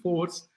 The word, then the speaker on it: Fours: The title of my talk is the story of the fundamental force. Okay, so the force, F-O-U-R-S, it rhymes with force, and I am going to talk about four fundamental forces.